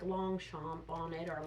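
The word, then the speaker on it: Longchamp: to say you know this would be like long chomp on it or a long champ that's how you pronounce it but if you buy the the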